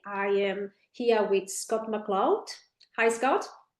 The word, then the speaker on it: McLeod: I am the founder of uh PDbody and today I am here with Scott McCloud. Hi Scott. Well done on pronouncing the surname.